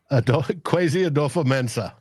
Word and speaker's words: Kwesi Adofo-Mensah: Pronounce his name again. Kwesi Adofo-Mensah.